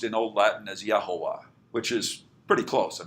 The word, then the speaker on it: Jehovah: Okay, and in Old Latin, J was pronounced as Y, and V was pronounced as W. So we spell it Jehovah, but it would have been pronounced in Old Latin as Yahovah, which is pretty close.